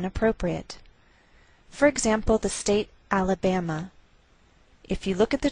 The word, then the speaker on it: Alabama: a lowered Mark so the greater stress is on this third syllable we say Alabama Alabama what else is shared